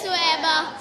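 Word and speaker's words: ثویبہ: حضرت، ہاں صحیح تلفظ کیا ہے؟ حضرت سویبہ. سویبہ. اور آج کل ہم کیا سنتے ہیں؟ اردو میں کیا مستعمل ہے؟ صوبیہ. اور عربی میں یہ اصل نام ہے کیا؟ سویبہ.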